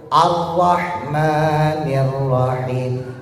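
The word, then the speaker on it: الرَّحْمَٰنِ الرَّحِيمِ: Sementara R hijaiah itu rada cadel, tapi jangan dicadelin. Rada cadel. Walur arrahmanirrahim. Arrahmanirrahim. Arrahmanirrahim. Jadi bukan ar ar arrahmanirrahim bukan. Bukan.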